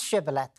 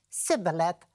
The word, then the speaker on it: shibboleth: them, they said, pronounce shibboleth. And the other guys couldn't pronounce the H sound, so they said, sibboleth, bang, they were massacred.